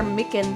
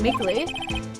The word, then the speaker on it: Meekins: Actually, Officer Meekins at the detention center told us. That poor little doggy. Poor guy. I keep getting his name wrong and calling him Meekly.